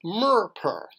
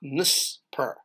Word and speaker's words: mer-per: But it's still pronounced mer-per, not nus-per, because the tongue is in the mouth, even though it's an ox tongue.